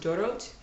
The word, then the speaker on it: Dorot: The next one is chopped cilantro by a brand called, I think it's pronounced Dorot, D-O-R-O-T.